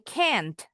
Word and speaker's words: can't: I can't. Enggak perlu bunyi t-nya. Bukan t-nya yang diperjelas. A-nya yang agak panjang.